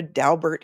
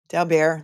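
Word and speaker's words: Daubert: people call it a dabert hearing I like to say it the French way Dow bear that's the way I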